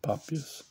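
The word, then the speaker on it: Papias: and also on um papus popus um is that how you say his name p a p p i a s pop p a p pops yeah popus so yeah there's actually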